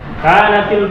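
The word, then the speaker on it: كانت: Kita jangan heran kenapa dibacanya kanati, sedangkan di situ dia barisnya baris mati kanat. Itulah. Jadi karena berjumpa dengan kedua huruf yang mati, maka dibaca dia yang pertama itu dibariskan bawah.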